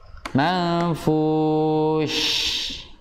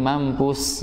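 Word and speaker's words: الْمَنفُوش: Manfush. Ya, fush. Fush. Jadi bukan cukup hanya manfush. Nah, ada lagi mampus ya. Iya, karena fa-nya salah bacanya. Mampus, udah mang lagi, mampus. Sin keluarnya. Karena orang satu memang ya, karena apa ya?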